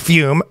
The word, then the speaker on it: Fume: Two dots on the U. Interesting name. You know we're talking about fume. It's pronounced fume, for the record.